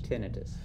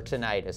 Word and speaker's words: tinnitus: you call ringing ears tinnitus or tinnitus there's a couple different ways of pronouncing tinnitus tinnitus you know